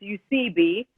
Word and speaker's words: Eusebi: It's Eusebi.